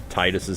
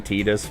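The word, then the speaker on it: Tidus: Cutting back real quick to mention here that the correct pronunciation of Titus's name is actually Tetus, but I'm going to pronounce it as Titus.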